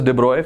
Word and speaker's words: de Broglie: This guy is pronounced as de Broglie, French scientist.